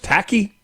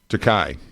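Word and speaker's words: Takei: How do you say this cat's name? Is it George Tacki? Takai. Takai. Okay.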